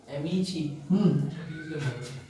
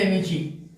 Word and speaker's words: Amici: एमीची। चलिए तो AMICI spelling ये है, बट है ये एमीची।